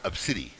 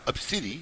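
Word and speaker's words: Abcde: named A, B, C, D, E, which is pronounced Obsidi. Yep. What? Yes, it's pronounced Obsidi. Yep. Okay, and it's some Latin meaning. There's some meaning is either goddess or something, but it is Obsidi.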